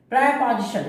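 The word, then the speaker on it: preposition: प्रेपोजिशन, इसको हम प्रीपोजिशन नहीं कहते, प्रेपोजिशन। प्रेपोजिशन इसका शुद्ध उच्चारण है प्रेपोजिशन।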